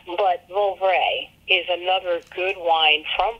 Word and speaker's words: Vouvray: But Vouvray is another good wine from France. It's spelled V-O-U.